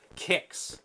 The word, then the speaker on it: KTron: Because there's not much kicks. Okay, it's pronounced kicks. That makes sense.